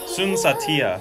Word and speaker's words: Sun Saathiya: Sun Saathiya, so that's the pronunciation.